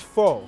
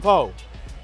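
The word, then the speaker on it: phở: And so on Kim's Convenience, there's an episode where I'm supposed to say pho, but I say pho. Let's get some pho.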